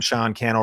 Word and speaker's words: Sean Cannell: Sean Cannell rhymes with YouTube channel.